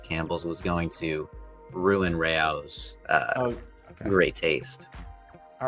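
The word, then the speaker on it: Rao's: Okay, the pasta sauce, according to AI, the pasta sauce brand RAOS is pronounced Rayo's. Oh, it is not pronounced Rose or Rouse. Rayo's.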